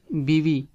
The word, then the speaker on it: بیوی: خاوند، ہسبینڈ۔ اور وائف بیوی، بیوی، بیوی، like in here first say b and then say v, b v mean wife.